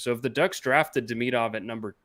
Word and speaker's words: Demidov: you may have noticed I've altered my pronunciation because that's how they say it in these Russian broadcasts that I'm watching. So it's not Demidov. I didn't expect them to say Demidov, but I'm going to try to be true to the pronunciation.